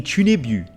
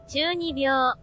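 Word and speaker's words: 中二病: He's the character with middle school syndrome, otherwise known as the Chunibu. Chunibu? Hang on, let me just find out exactly how to pronounce this. Chunibyo.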